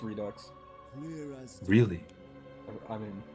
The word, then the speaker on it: Redux: spelled redo like that I don't know it's Redux really I mean how annoying so we Americans say yeah oh boy okay Redux fine oh